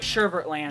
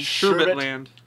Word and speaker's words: Sherbet Land: All right, Sherbert Land. Sherbet Land.